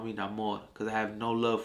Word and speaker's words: Namor: his his name Namor because it will forever be Namor no name throw that Accent on there baby because I love